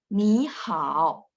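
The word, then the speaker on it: 你好: Jadi tulisannya sekali lagi ya, tulisannya tetap ni-nya 3, hao-nya 3. Tapi bacanya doang, yang depannya berubah jadi nada 2 ya.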